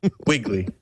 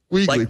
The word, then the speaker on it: Wiegley: John, how do you pronounce your last name? Wiegley. Wiegley. Like the grocery store, like the rabbit in the storybooks.